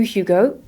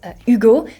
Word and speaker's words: Hugo: introduce himself as Hugo hi I'm Hugo not Hugo so he has a really nice H he also had a